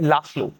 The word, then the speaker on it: László: लास्ट लो। ध्यान रखना यहां पर जेड साइलेंट है। तो ये लास्ट फ्लो है।